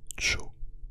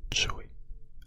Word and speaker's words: Joey: c'est le prénom jooé qui ne se prononce pas Cho mais Joy avec le y à la fin Joy Joy Jo Jo